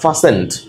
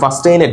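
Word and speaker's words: fastened: সো এই সিচুয়েশনে যেমন ফাস্টেন্ড, এই শব্দটাকে অনেকে ফাস্টেইনেড বলে, বাট ফাস্টেইনেড না, টিল এখানে সাইলেন্ট থাকবে, রাইট?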